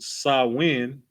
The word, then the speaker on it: Samhain: right in modern times samhain a gaelic word pronounced sawin is usually celebrated from